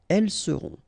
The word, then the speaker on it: elles seront: the end, et serez, ils seront, final T not pronounced, elles seront.